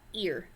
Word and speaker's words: ir: this is the verb ear so when do you use and it's pronounced ear like the body part ear okay not like er or however else you might pronounce that ear like your ear okay so ear means